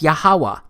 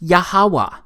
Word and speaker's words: Yahweh: But this YHWH, it's pronounced as Yahweh, because it turns out that the language was so simple back then that it vocalized each consonant with an ah sound without specifically marking that sound between consonants.